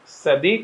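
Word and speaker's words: Sadi: तो उन साइंटिस्ट का नाम है बच्चों सैडी कार्नोट। अब प्रोनाउंसिएशन आप चाहें तो साडी करें, सैडी करें जो भी, उसे कोई फर्क नहीं पड़ता।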